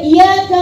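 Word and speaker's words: إِيَّاكَ: Iyyaka ada tasdidnya. Apa artinya? Iyyaka hanya kepadamu. Ya Allah, kami menyembah hanya kepadamu ya Allah, kami mohon pertolongan. Tapi kalau kamu bacanya iyyaka na'budu wa iyyaka nasta'in, kepada bayangan aku menyembah dan kepada bayangan aku mohon pertolongan. Bahaya banget ini. Beda di tasdid doang bisa merubah arti segitunya.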